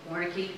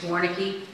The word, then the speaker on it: Warnecke: when he came out Warneke I'm so sorry I just I mispronounced your name originally it's Warnecke sorry you know old